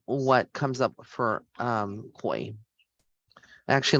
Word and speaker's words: Coi: so let's see what comes up for um koi I actually like the name it's spelled c-o-i and then larae l-e-r-a-y she's got